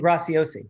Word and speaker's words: Graciosi: his name right dean gracie oc i can't pronounce i'm forgetting huh uh dean graciosi yeah get rice yeah their kbb launch in